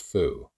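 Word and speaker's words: 蝠: The Chinese word for bat is pronounced fu, as is a word for good fortune or happiness.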